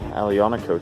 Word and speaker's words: Aglianico: We have the Aglianico here, which is growing crazy out of control. And yes, I've been pronouncing it wrong the whole time. The G is silent.